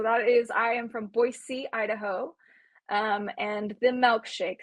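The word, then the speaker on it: Boise: the poll results and the correct answer is that it is pronounced boy C um uh yes so that is I am from boyy Idaho um and the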